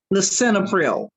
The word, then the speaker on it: lisinopril: Then Okay, we have, Doris, that last one is uh, pronounced lisinopril.